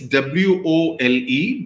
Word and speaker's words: Wole: His spelling is W-O-L-E, but when I found out, I was told that it is pronounced as Wole Soyinka, okay, as in W-O-Y-E.